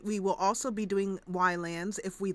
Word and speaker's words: Ylands: And I'm calling it Ylands. However, I think it is maybe supposed to be pronounced Islands, but it's Y, the letter Y, with the word lands in front of it, which is what you